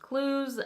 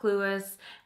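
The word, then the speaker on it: Cluess: today that eight is pronounced clues not clueless and how did I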